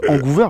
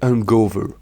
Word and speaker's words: Hangover: Et déjà, parce que vous prononcez ça comme Vancouver et ça sonne Wow, pas bien. Pas trop. C'est Hangover.